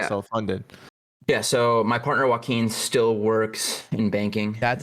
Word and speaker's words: Joaquin: Yeah, so my partner Joaquin still works in banking. That's how you pronounce it. Yeah. Dude, I never knew how to pronounce his fucking name, and he'll come into Chan. Joaquin.